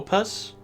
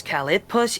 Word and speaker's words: Calopus: It's not with an I, it's an O. Is it an O? Is it It's an O. Calopus? Yes, it's a calopus. Yeah, sorry. Okay, I did misspell it. My bad. I did misspell it when I sent it to you. I thought it was calipus. It's calipus. Calopus.